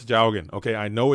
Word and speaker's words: Jowgen: at locals with, and he would always call it Jawigan. It was always Jawigan. And for some reason, that pronunciation just stuck in my brain as Jawigan. Instead of Jowgen, it's always Jawigan.